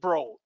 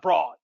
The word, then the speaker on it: Broad: named after eli bro he pronounces it bro not broad that's who is this